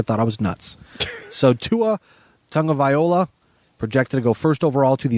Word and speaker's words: Tagovailoa: Tagovailoa, I believe is how you pronounce it. Tua Tagovailoa.